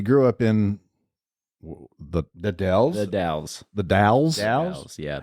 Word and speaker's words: The Dalles: The Dalles. the Dalles. Dalles, yeah. How do you spell that? It's the and then DAL. Oh, it is the Dalles. Again, pronouncing all the Dalles.